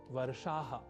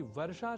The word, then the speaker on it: वर्षाः: यहाँ ध्यान दीजिए कि वर्षा शब्द का संस्कृत में सदैव ही बहुवचन में ही प्रयोग होता है, अर्थात वर्षा नहीं वर्षाः ही प्रयोग की अवस्था में लिखा और बोला जाना चाहिए। वैसे हम संस्कृत पाठशाला की